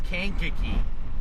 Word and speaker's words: Kankakee: And I'm like, it's Kankakee. And he's like, that's what I said.